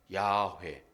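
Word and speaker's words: 야훼: 그 이름 여호와 야회 발음은 히브리 발음은 야회예요.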